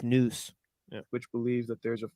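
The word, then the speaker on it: nous: Circles by the way I don't know why it's calling it nuos maybe that's like some Latin word but the word is n-o-u-s news which believes that there's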